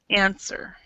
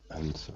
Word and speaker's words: answer: that the word answer even though there's a w there we actually do not pronounce the W so it's answer answer oh you um H